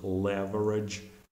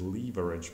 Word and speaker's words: leverage: at the right time so it's pronounced as leverage in American English I think British is leverage but we are more keen on American English so in this case